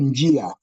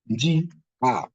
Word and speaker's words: njia: So nji, which means including I, will be pronounced together with the consonants. Nji. Then I will be pronounced alone. Njia.